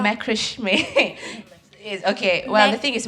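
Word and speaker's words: macramé: wait, how to pronounce it? Macram. Macrame.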